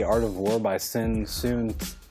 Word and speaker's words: Tzu: Did you ever read The Art of War by Sun Tzu? I can't pronounce the last name. It's Tzu.